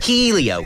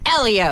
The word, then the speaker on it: Helio: he wins and I like saying his name Helio keio keio come on he won the Indie